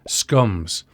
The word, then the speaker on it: SCMS: copy management system scms some people pronounced it scums this was mandated by